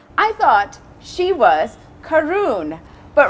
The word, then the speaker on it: Karun: So everybody would say Karun because of how it's spelled. Because it's short for Karungari. It's not It's not actually Karen, like the Yeah.